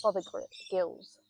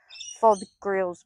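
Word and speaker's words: Fothergill's: Mr. Father Gills. I always say it wrong. I always go to say FOD grills, but I don't know why.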